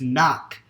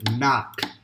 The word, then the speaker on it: knock: But according to calculations, the word is knock. So we got those letters K, which this one is silent, N, O, C and another K. So that's why the answer is knock.